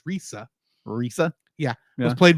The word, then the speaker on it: Lisa: So Lisa, yes, her name is Lisa, although in Japan it would have probably been pronounced more as Risa.